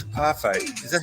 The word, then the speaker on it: parfait: it's a parfait. Is that how you say it? Yeah, it's a parfait. Parfait, yeah. Yeah. Not parfait, you dumb fuck.